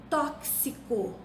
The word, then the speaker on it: tóxico: Tóxico se escreve com X, mas se pronuncia como se fosse CS.